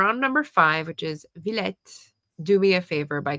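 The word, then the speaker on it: Villette: Vlet.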